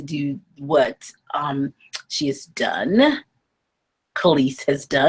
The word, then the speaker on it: Kelis: And pronounce it? Kelis. Kelis, that's right. Kelis has decided to do something very different with her hair.